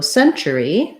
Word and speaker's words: century: So century, the letter C stands in for the S sound. Also first syllable stress. Also the red tent vowel, just like in decade, in century. Here, the T is not a T sound. The letter T is going to be the CH sound.